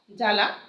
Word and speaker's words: জ্বালা: জ্বালা, এই শব্দের আদ্য ব উচ্চারণ হয় না, জ্বালা, হ্যাঁ, বর্গ জয় বয় আকার লয় আকারে লা, কিন্তু এই বয়ের উচ্চারণ আমরা করি না, হ্যাঁ, এই জ্বালা লিখি, জ্বালা এরকম হবে, উচ্চারণ এরকম, শব্দের বানান কিন্তু এরকম।